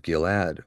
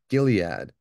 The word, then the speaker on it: Gilead: brothers pitched in the mountains of gillad or Gilead they have galad or galade Gilead there's different ways they have that pronounced or spelled um a lot of